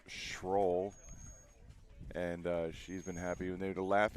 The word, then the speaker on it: Schroll: lot of people say scroll because it's it's spelled s c h r o l l so uh it could be an odd spelling for scroll but it is pronounced shroll and uh she's been